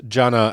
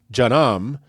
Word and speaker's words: Jannah: So also take care not to mispronounce Jannah as Jannam, which, as we will explore in a future segment, is the Islamic word for hell.